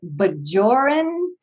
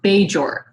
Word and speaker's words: Bajor: the planet is pronounced bajor so it's it's some it's something between a hard and a soft j so you would assume